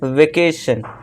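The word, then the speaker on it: vacation: फिर नेक्स्ट है वेकेशन।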